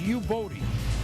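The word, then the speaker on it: Youboty: And Buffalo likes picking these guys, but it's pronounced U-Bodie.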